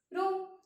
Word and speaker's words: rho: Rho is the constant which is known as resistivity.